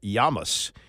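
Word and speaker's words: Llamas: to pronounce it uh I was told it's yamas his name is Tom yamas l l m i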